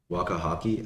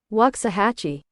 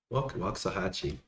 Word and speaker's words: Waxahachie: Come to Waxahachie, Wakahaki. How do you pronounce that? Wakahaki. What if I've been muted this whole time and you guys are just pretending to hear me? Waxahachie. Waxahachie.